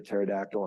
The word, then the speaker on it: pterodactyl: So why can't you hear a pterodactyl in the bathroom? Because the P is silent.